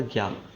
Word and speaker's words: संज्ञा: इसका जो उच्चारण होता है वो ज्या करके होता है, लेकिन जबकि प्रचलन में क्या है ये ज्ञा है, तो इसको हम ज्ञा ही पढ़ते हैं।